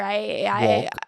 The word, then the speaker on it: Wolk: You're gonna want to go to my Instagram, IVC Wolk, and plug it now. Yeah. IVYC. I'm sorry, I think I said your last name wrong. Everybody does. It doesn't matter. Wolk.